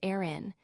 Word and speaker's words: Aran: The famous story goes that these incredibly heavy sweaters, specifically the Aran sweater, pronounced Aran, named after a cluster of beautifully unforgiving islands